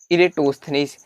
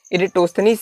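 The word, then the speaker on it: Eratosthenes: इरेटोस्थनीस। इनके नाम का प्रोनाउंसिएशन कुछ अलग अलग है, तो इस पर कंफ्यूज ना होइएगा, क्योंकि अलग अलग बुकों में अलग अलग प्रोनाउंसिएशन दिए गए हैं। तो इरेटोस्थनीस साहब आए, उन्होंने एक वर्ड दिया, क्या?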